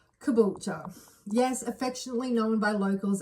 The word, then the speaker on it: Caboolture: Kabula. Yes. Affectionately known by locals as Cabo. Also sometimes pronounced kabucha.